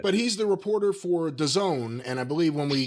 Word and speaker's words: DAZN: But he's the reporter for DAZN, and I believe when we covered the CM DAZN? DAZN, D-A-Z-N, if you ever see that, that's Is that how you say that?